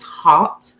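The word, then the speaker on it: haute: and that email is hot lady 82 now i'm pronouncing it hot but it's not hot lady like fast lady is hot and um that means classy and dignified in french so hot lady 82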